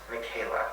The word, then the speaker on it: Michaela: And it's pronounced Michaela.